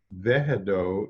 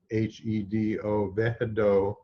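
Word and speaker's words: Wehedo: And the divine name associated with this is pronounced Vehedo, even though it's spelled with a W, W-E-H-E-D-O, Vehedo, and it means a return to the source.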